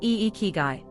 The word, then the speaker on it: ikigai: Secret number one is called ikigai, pronounced eek-i-guy. In Japanese, it roughly translates to your reason for getting up in the morning.